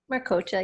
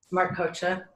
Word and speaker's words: Marcoccia: I am delighted to be with Marcoccia. Did I pronounce it correctly? Marcoccia, yep. Marcoccia.